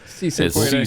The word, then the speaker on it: Si se puede: Say suefede. I don't know if that's pronounced. Yes, it's yes we can in Spanish. Si se puede.